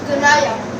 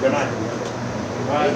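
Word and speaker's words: Genia: Yes, I'm Ganaya. I'm from Australia and I'm 20. Australia. Yes. All right. Yeah. What's your name again? Ganaya. Ganaya. G-E-N-I-A. Ganaya.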